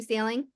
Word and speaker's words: Saling: way to pronounce that no it's like you're either going for a sale and you're going to buy a house or you're on the ocean and you're going sailing right yep so today